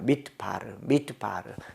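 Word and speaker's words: מִדְבָּר: 그 다음에 미드바르라고 약간 발음이 나는 것 같겠지만 무성입니다. 미드바르. 미드나이트 할 때 미드라고 안 하고 미드나이트 하잖아요. 미드바르 이렇게 미드바르. 폐음절이어서 발음하지 않는다.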